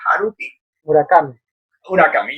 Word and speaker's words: Haruki Murakami: Entonces, los libros de este japonés, Edgardo, ¿cómo se pronuncia? Haruki Murakami.